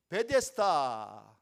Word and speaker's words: 베데스다: 베데스다, 이 말은 히브리어로 벳 차스다라고 하는 말에서 이제 발음하는 그대로 헬라어로 옮긴 것이 베데스다입니다.